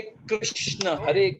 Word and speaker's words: कृष्ण: We made them healthier, वो कृष्ण का नाम हमने हेल्दियर बना दिया। बस इतनी सी बात अगर हम लोग सिर्फ जब प्रोनाउंस करते हैं, इंस्टेड ऑफ सेइंग हरे कृष्णा इसे हरे कृष्ण।